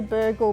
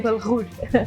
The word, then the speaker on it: bulgur: I mean, I say burgle, but you pronounce it a little differently. We say bulgur. Yes, like quite guttural.